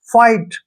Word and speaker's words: fight: जैसे FIGHT, यहाँ पर भी वर्ड के लास्ट में GHT आया है तो G और H का प्रोनाउंस हमने नहीं करना है, इसको हम पढ़ेंगे फाइट, ऐसे फाइट, ठीक है ना।